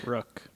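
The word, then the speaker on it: Rukh: introduced to the character Luke or rook rook as is pronounced in Star Wars rebels mess you remembered something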